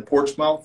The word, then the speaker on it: Portsmouth: coin shop is in porch mouth ohio we say portsmouth here but it's spelled port's mouth and it's in southern